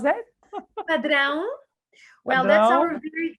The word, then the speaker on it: Padrão: How to pronounce that? Padrão.